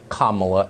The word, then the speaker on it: Kamala: we apparently unknowingly mispronounced kamala harris's name it is pronounced comma not semicolon comma like the punctuation mark allah harris fine it